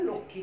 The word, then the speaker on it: লক্ষ্মী: ক মূর্ধন্য ষ ম, এখানে আমরা এই মটার উচ্চারণ কোনরূপ করব না, আমরা বলবো লক্ষ্মী, যেহেতু ক্ষীয়র উচ্চারণ আমাদের কয়ক্ষর মতো লক্ষ্মী বলবো, কিন্তু ওই যে ম থাকার কারণে এটা একটা চন্দ্রবিন্দু হয়ে যাবে, যেমন এটা হয়ে যাবে লক্ষ্মী, লক্ষ্মী।